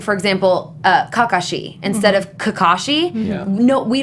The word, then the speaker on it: Kakashi: saying for example uh Kakashi instead of Kakashi. No, we don't have words that are pronounced that way. We're we're sort of split like the um the emphasis is split kakashi.